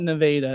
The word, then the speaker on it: Nevada: They call it They call it Nevada is how they say it.